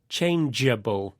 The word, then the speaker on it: changeable: shows that the G is pronounced softly as J, changeable.